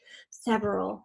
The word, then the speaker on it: several: next word is several we tend to shove the middle syllable in several but it is three syllable sev or all several so we have sev